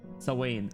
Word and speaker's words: Samhain: Samhain is pronounced Sawain.